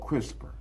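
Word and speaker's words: CRISPR: Pronounced crisper stand for clustered regularly interspace shorter palendroic repeat.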